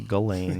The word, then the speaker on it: Ghislaine: I think you say Ghislaine. Yes, that's right. What language is that? They would say Ghislaine and French, spell it like that.